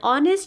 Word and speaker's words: honest: For example, an engine, an onion, an umbrella, an hour, an honest chap, or an honor. Though our, honest chap, honor, all these three words they begin with H, but H is silent in it.